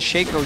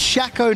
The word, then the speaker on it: Shaco: can get them down it's it's pronounced Shaco not Shaco that's how I read it